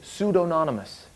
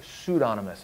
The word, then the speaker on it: pseudonymous: so there's it's also pseudo anonymous meaning let's say you wrote a book under a pen name that's pseudonymous I think I said it wrong a minute ago pseudonymous it's a weird word but basically it's kind